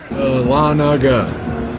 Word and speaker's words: Dahlonega: no idea how to say it, but it's pronounced Dahlonega. And gold was discovered in that town located in the North Georgia mountains. Thousands and thousands of people flocked to Dahlonega to strike it rich in their gold mines.